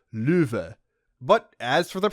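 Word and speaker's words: Loewe: His name is the German word for lion, which is supposed to be pronounced louv.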